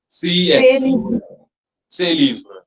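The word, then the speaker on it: ces livres: Uh say say Libra says say Libra and Libra but we have to add an extra s. Okay. Okay. Because the noun is plural here. Although that s will be silent, we won't pronounce it.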